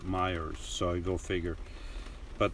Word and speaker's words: Meijer: It's not written Myers like you're thinking. It's Meijer, I think, but the locals there pronounce it Myers, so I go figure.